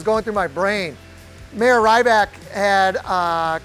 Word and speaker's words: Rybak: The last family that owned that business was the Rybaks. You could also pronounce this Rybak.